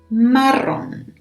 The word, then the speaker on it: Marrón: Marrón. So as you can see, a lot of the colors have these strong R pronunciation. Marrón.